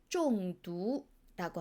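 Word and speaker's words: 中毒: 중독은 중국어로 쫑두라고 합니다.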